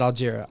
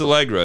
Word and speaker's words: Allegra: allegra allegra i apologize i said algeria i'm sorry is it a you snow elect hold on i'm just going you know i'm starting to find an interview with what they say her name yeah it's allegra it's a-a-l-e-g-r-a it is